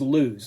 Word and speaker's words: lose: First up is lose. Lose, of course, is a verb, an action word that rhymes with choose and shoes, and it means to be deprived of something, as in this sentence.